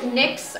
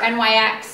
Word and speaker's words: NYX: I'm going to start with NYX or NYX. Everybody pronounces it different.